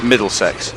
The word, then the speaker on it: Middlesex: And it's Middlesex, which is pronounced exactly as it's written.